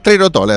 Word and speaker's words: Trerotola: Bueno, pero es Trerotola, estamos bien, ¿no? Sí. Trerotola, sí, para los fanáticos del italiano.